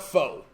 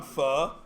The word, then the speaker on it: pho: of the fog okay you might call it pho but it's not focus pronounce pho right so anyway it's too bad as pronounced file because you can make lots of puns on fuh like if it's the best place ever they're